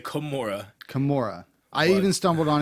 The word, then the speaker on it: Kimura: Is it a chimera hold? It's a Kimura. Not chimera. It's not chimera. Okay, we're not going with Greek mythology. No. Okay, Kimura. Say Kimura.